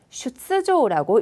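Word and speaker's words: 出場: 자, 출장이 슈츠조라고 읽혀져야 돼요. 자, 뒤가 조이기 때문에 저 슈츠, 쓰 발음을 살려두시고 땡땡 탁점을 붙이시면 되겠습니다. 이제 그 탁점 바로 앞에 초금은 쓸 수 없기 때문에요. 슈조라는 발음이 못 되기 때문에 쓰는 큰 상태로 슈츠조.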